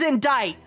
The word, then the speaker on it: indict: find the pronunciation English it's pronounced as indict it is in date the